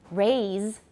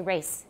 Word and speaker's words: raise: So instead of saying, for example, raise, 就是提高, raise, people will say race, is that right?